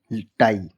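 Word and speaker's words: tie: जैसे डी आई ई डाई पी आई ई पाई एल आई ई लाई टी आई ई टाई।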